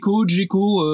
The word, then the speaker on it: Gecko: Je pense que suivant qu'on la prononce de notre côté ou du côté plutôt anglophone, on dirait Geco ou Gecko.